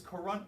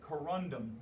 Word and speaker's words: corundum: have is they have this coron sorry corundum i always say it wrong the corunda mineral which